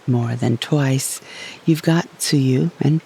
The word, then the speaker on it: tsuyu: It's called rainy season in English and suyu or bayou in Japanese. Tuyu and bayou are different pronunciations for the same two characters, plum rain.